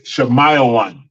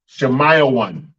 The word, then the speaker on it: Shemayawan: Simeon is Shemayawan. Shemayawan. Shemayawan. Sha, ma, I, one.